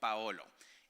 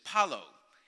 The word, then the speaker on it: Paolo: So the accent is on the A, you pronounce the O, the L, and the O, Paolo. In the States, we cannot do that. So it's Palo, and Palo is a stick.